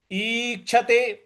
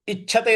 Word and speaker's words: ईक्षते: है अगला पद है ईक्षते ईक्षते देखिए बड़ी ई है तो इच्छते नहीं बोलना है इच्छते ऐसे बोलना है ईक्षते उसके बाद छ क्ष